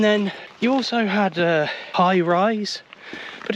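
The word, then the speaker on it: High Raise: s e so I thought okay that's high rays and then I was corrected by a local no no it's highrise well he didn't say it like that he was actually no you mean high rise no sorry high rise you mean high rise yes high rise but why is it spelled weird wow man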